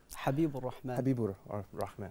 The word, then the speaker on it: Habibur Rahman: Bangladesh habiru rman to you brother did I pronounce it correctly your first name Habib rman okay also we're joined by Sheik Muhammad shabir